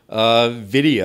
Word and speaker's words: Vidya: Vidya, I mean, I get asked this all the time, like, what does that mean?